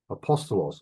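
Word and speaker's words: ἀπόστολος: the laws will allow apostolos that sounds like the word Apostle in fact where do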